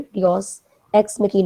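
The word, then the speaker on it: deus ex machina: ये था कि उसमें योस एक्स मैकी इसको मशीना नहीं पढ़ना आपने डिस एक्स मकी है ये इसका बड़ा ज्यादा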